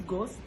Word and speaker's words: Ghost: whatever gas bond gas how do you say goals it's ghost okay ghostbun but it's